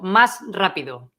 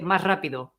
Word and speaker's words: más rápido: speakers do is that when a word finishes with S and then the next word starts with R, they don't pronounce the S.